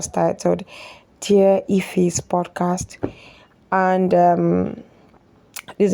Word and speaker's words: Ephy: So, my name is Ephy.